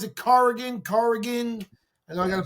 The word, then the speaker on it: Corrigan: And listen, with all due respect, that coach Carrigan, how do you pronounce it? Corrigan.